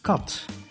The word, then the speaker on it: kat: A vowel is pronounced short when the end of the syllable is a consonant like in kat, which means cat, and plural cotton.